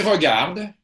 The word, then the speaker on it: regarde: Like, make sure if you're going to pronounce the E at the end, it's an E. Il regarde. Voilà. Or it disappears. The E is almost like a non-sound, right?